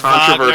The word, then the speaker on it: Wagner: Wagner. Despite this grand It's gesture, pronounced Wagner.